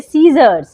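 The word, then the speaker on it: scissors: आप ध्यान दे तो एस के बाद आया है तो पढ़ेंगे सीजर ठीक है जैसे सेंट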